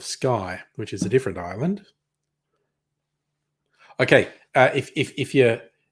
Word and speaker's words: Islay: you see a whiskey that says it's from i-s-l-a-y that's an island uh if you really want to piss off